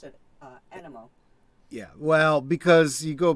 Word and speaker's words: Animo: What's funny is I look at the way his name is spelled, and I would have said amino, like amino acids, just for the way his name is spelled, but they pronounce it animo.